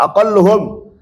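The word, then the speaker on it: أقلهم: manusia aqalluhum ya ini saya kira tadi aqalu bacanya aqalluhum ya paling sedikit jamak ini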